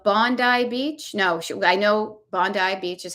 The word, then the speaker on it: Bondi: No, I know Bondi Beach is how you pronounce it.